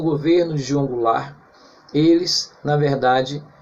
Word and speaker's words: Goulart: se encontrar no final mas a pronúncia é Goulart João Goulart o presidente